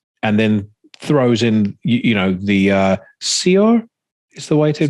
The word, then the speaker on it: Saor: intensity of that, and then throws in the Saor is the way to pronounce it. Saor.